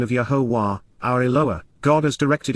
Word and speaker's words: Yahowah: in advance of it occurring, Yahowah, the proper pronunciation of Yahowah, our ElOah, God as directed in his Torah, teaching regarding his existence and our Shalom, restoration.